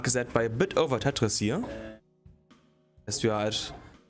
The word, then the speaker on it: Tetris: No, we do pronounce the S. Oh, heck. Tetris.